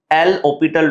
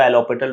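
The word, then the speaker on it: L'Hôpital: हमने एक चीज पढ़ते हैं ईकैट में एल ओपिटल रूल जिसकी स्पेलिंग में लिखा जाता है एल हॉस्पिटल रूल पर उसको एल ऑपिटल रूल कहा जाता है।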